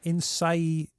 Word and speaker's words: Innsaei: You mean Innsaei Insights? I pronounced it correctly.